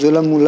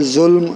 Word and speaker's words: ظلم: یہ بھی لفظ بعض لوگ اس کو ظلم پڑھتے ہیں، تو ظلم لفظ غلط ہوتا ہے، ظلم اصل میں اس کا تلفظ ہے.